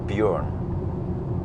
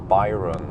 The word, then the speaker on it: Bjørn: But still people can't pronounce Bjørn correctly. It's just Bjørn. They still can't, they Bjorn or Byron or some shit, or they can't type it correctly even.